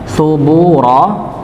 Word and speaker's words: ثبورا: Subura. Ya, su-nya dibaca satu harakat huruf tha nggih, jangan sampai dibaca huruf sin seperti sin. Ya, subura, subura tapi su tha, subura.